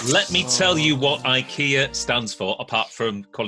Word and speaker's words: IKEA: false Bernard it's true however you saying it wrong it's IKEA IKEA okay true Bob okay